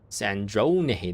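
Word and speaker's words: Sandrone: Sandron. That's how you pronounce that.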